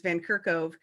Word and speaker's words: Van Kerkhove: His last name is actually pronounced like it's spelled, but there's so many vowels that people don't know which direction. Right. And they always put F's in there, and I'm like, no, there's no F.